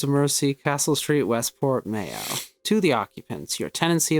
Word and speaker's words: Mayo: the irish my pronunciation mayo much like the condiment bro crohn okay i